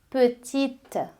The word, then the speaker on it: petite: Aí para dizer pequena vai ficar petite, petite, petit, petite, petit, petite. Viu só? A adição do E deu som ao T e criou uma sílaba nova ali, um som a mais na palavra.